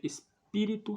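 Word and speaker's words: Spiritu: pronunciado no Qui SD Espírito Santo Espírito com u no final Santo com o no final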